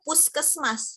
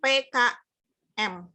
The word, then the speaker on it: Puskesmas: Ya, Pusat Kesehatan Mas, kan dibacanya Puskesmas, bukan PKM. Kalau PKM, singkatan.